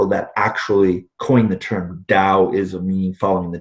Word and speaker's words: Tao: it's spelled Dao sometimes or ta o this pronounce the O W Dow what is the meaning of that word what